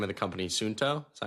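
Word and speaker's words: Suunto: Sunsto, is that how you say it?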